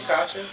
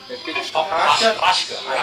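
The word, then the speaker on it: Hauschka: Did I say his name, Kasha? Hashka.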